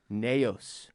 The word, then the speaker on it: Nyos: is Lake Neos Neos it's spelled in Y OS okay but to the best of my knowledge based on a very limited Google search where I where I typed in Lake Nyos pronunciation I believe it's Lake Nyos I'm looking in the